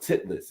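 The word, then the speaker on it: Titlis: this in Switzerland there's a mountain called Mount titas it's spelled TI t l i s all right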